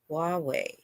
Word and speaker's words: Huawei: Oh, okay, Huawei.